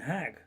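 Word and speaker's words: hæg: The Mercian pronunciation would have been hag, so a hag ditch to the Mercian Saxons was a meadow enclosed by a wall or a ditch.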